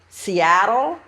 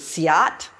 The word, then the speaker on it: Seattle: Now this reading is by Chief Noah Seattle, or Seal, or Seal, or one pronunciation I heard was Siat.